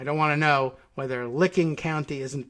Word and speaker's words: Licking County: in licking county unless they have some weird pronunciation like it's liking county or something like that but it's pronounced licking county which matt gates don't get excited don't be